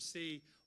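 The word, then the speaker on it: Seay: Jim C., which is spelled S-E-A-Y, was an attorney here in town for many, many, many years.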